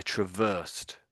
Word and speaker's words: traversed: So, if you if you travel across something across England or across Russia or the ice, you might say I traversed.